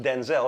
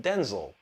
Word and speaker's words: Denzel: He said his name is not pronounced Denzel; it's pronounced Denzel.